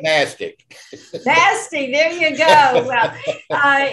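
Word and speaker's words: NASTC: worst acronym in america n-a-s-t-c right nasty there you go well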